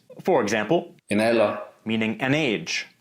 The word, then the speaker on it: alder: D is also not pronounced after L or N or before T or S. For example, En alder.